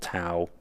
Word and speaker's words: Tao: So like in the product we have now called Tao, some people pronounce it Tao, either way, both correct.